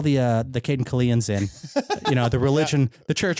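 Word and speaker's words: Cayden Cailean: pronouncing Carabine? Caden Kalian.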